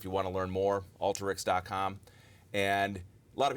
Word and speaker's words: Alteryx: want to learn more Alta Rick's calm and a lot of people want to pronounce it all Tareq's yes but but it is the word alter and that's the way